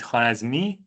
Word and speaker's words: Khwarazmi: In Persian, we were calling it Khwarazmi. Went to Arabic, it became Al-Khwarazmi.